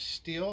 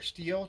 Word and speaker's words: Stihl: We've got this Stihl or Steel, depending on your pronunciation of it, FS45C curve shaft weed whacker.